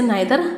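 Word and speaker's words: neither: तो जो नीदर है इसको ब्रिटिश इंग्लिश में नीदर बोला जाता है और अमेरिकन इंग्लिश में इसे नाइदर बोला जाता है। तो दोनों तरीके से इसका प्रोनाउंसिएशन कर सकते हैं।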